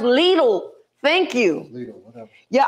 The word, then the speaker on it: Lidl: Oh, it's pronounced Lidl.